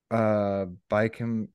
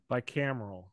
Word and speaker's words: bicameral: And the parallels between this idea and Julian Jayne's idea of the bicameral mentality. Father, are you familiar with this term? I know I'm butchering how to say it, but like B-I-C-A-M-E-A-R-L. Bicameral.